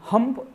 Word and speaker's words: hump: आज हम उसको हम्फ नहीं बोलते हैं, हम हम्प बोलते हैं। उसका स्पेलिंग आप देख लेना, हम्फ HUMPH, और अभी हम उसको जो बोलते हैं HUMP, हम्प।